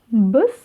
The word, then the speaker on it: Біз: Первое слово «быс», «быс», «быс». Здесь нет ничего сложного, мы с вами видим палочку с точкой.